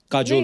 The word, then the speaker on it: काजोल: बड़ा यूनिक नाम है आपका, काजोल। काजल है ना, but काजल होता है, काजोल हाँ, but मतलब बंगाली में काजोल। बंगाली में ऐसे बंगाली में ऐसे उसका प्रोनाउंसिएशन है पर सर।